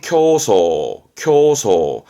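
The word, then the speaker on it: 競争: 발음은 교소.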